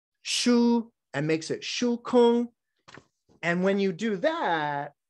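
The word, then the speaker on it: 空: It's the middle character in this that is pronounced kong, which is emptiness.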